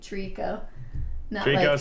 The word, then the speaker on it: Trico: It's spelled like three, Trico. Not like a tree.